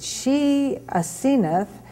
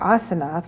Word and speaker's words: Asenath: for 300 years and she ath or aseno which is the the uh I guess correct uh pronunciation if it's not anglz was married to Joseph